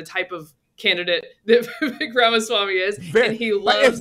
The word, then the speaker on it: Ramaswamy: annoyed by the type of candidate that Vivek Ramaswamy is, and he loves... It's Vivek, by the way. It rhymes with cake.